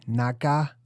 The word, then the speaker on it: NACA: Remember, NASA was invented officially in 1958, where it used to be called the NACA, N-A-C-A, also can pronounced with the G, Naga, like Naga, right? Like the serpentine gods.